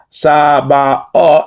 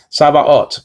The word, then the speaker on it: Sabaoth: So when you're looking at something in Hebrew that looks like a T, do not pronounce it as a T.